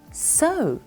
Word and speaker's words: sew: To sew. It's a funny pronunciation there, but it's to sew.